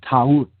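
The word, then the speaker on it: Taurt: Ta'ut, T-A-U-R-T, Ta'ut.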